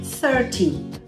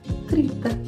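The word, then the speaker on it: thirty: 13, olha agora a sílaba tônica, ou stressed syllable do 30, é 30, as duas, os dois se parecem muito, veja aqui, 13, 30, como você vai saber a diferença dos dois?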